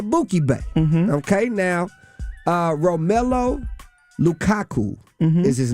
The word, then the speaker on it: Lukaku: Okay, now, Romelu Lukaku is his name. I hope I pronounced it. What's his name? Lukaku. It's Lukaku.